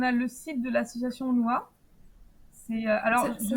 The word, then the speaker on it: Honua: Alors, on a le site de l'association NOA. Ça s'écrit comment?